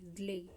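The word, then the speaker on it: Szalay: तो विजेता है वो डेविड स्ले हैं, ये ज्ले ज्ले ज्ले बोलते हैं इसको, स साइलेंट होता है इसमें।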